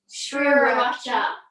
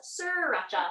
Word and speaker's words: sriracha: I only found out recently that it's spelled SR. Sriracha. Yeah. I thought it was sriracha.